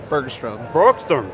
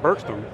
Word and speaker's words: Bergstrom: Bergstrom. Yeah. I spelled it right, I didn't say it right. Bergstrom.